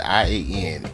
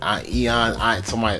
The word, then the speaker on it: Ian: I-A-N. Eon. Some people might even pronounce it Ian, but it's Eon.